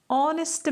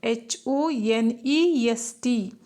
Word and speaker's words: honest: Whereas one more word is there, honest man, HONEST, honest. So here, though H is in that word, H, that word, though it begins with H, HONEST, but when we are pronouncing that word, H is completely silent.